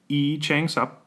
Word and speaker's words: Lee Chang Sub: We've done that today for the song At the End by E Chang Sub. It's spelled Lee Chang Sub, if you can't find it, but usually we provide a YouTube link.